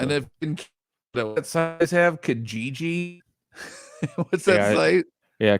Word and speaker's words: Kijiji: And if what sites have Kijiji? What's that site? Yeah, Kijiji. Yeah. Is that how it's pronounced?